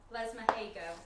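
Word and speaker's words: Lesmahagow: And Les Mahago is how you pronounce it, according to Moira.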